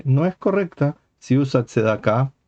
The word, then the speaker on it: Tzedakah: Por ejemplo, Tzedoke o Tzduke en lugar de Tzedakah. Y Israel en lugar de Israel, Bruja en lugar de Brajá. Así, en lo sucesivo, uno sabe que pronuncia según el estilo yiddish, pero si hace un